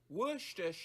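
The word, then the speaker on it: Worcestershire: Wor share sauce. That's how it's pronounced.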